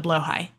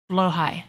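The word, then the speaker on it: Blåhaj: What am I naming the blowhigh? Good question. Right now, everybody's for some reason also calling him Germa. So that might stick. Blowhigh.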